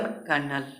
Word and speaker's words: colonel: कर्नल का spelling और कर्नल का उच्चारण जो प्रोनाउंसिएशन करेंगे COLONEL, COLONEL, इसको बोलेंगे उच्चारण कर्नल।